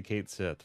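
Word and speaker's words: Cait Sith: They did say Kate Sith for Final Fantasy VII Rebirth, though. Official Square Enix pronunciation.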